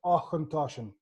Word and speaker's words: Auchentoshan: So it's pronounced Auchentoshan. So the ch is a bit, it's Celtic, it's Gaelic, of course. So it sounds a bit strange, but you can't miss it.